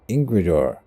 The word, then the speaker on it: Ingrid: my steward chief is ingrid yeah ingle okay that's the danish modern way to pronounce that i think uh informs me that